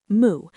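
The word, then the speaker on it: 無: In Japanese, this is pronounced moo, a term translating to not having, void, without anything, or what does not exist.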